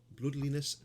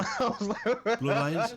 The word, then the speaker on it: Bloodlines: Vampire the Masquerade Bloodliness 2, release date 2021, so PS5. It's not Bloodlines. Is it? Bloodlines?